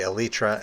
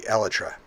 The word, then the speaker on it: Elytra: a pretty obscure example of words that are mispronounced in minecraft like for instance some people say elytra and some people say elijah that doesn't bother